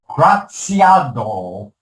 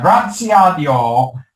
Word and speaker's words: Graziadio: professional service firms she's a graduate of pepperdine's graziado i sorry for that mispronunciation there uh graziadio business school mba program where she attended night